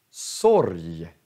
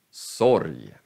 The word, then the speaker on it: sorg: Om g kommer sist i ordet, då uttalar vi också som j. Så, vi säger berg, berg, eller Göteborg, eller sorg. Så är g sist, då uttalar vi som j.